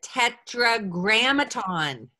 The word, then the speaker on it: tetragrammaton: But this word, the Yud-Heh-Vav-Heh, is what we call the tetragrammaton. Can you say five syllables? Tetragrammaton.